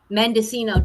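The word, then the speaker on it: Mendocino: Mendescino.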